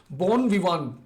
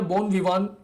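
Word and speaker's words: bon vivant: जो है French phrase बोन विवान टी जो है व साइलेंट पर चला जाता भया बोन विवान इसको बोलते हैं बोन विवान ठीक है यह ऐसा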